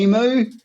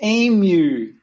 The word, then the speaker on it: emu: say emu don't say it like that it's emu as in me and you aim you you just